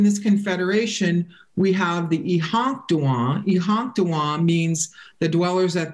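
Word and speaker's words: Iháŋktȟuŋwaŋ: Now, within this confederation, we have the Ihanktuan. Ihanktuan means the dwellers at the end. And Ihanktuan, Yankton is just a mispronunciation of Ihanktuan.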